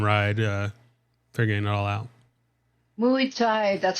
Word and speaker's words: Muay Thai: Muay Thai, that's how you say it.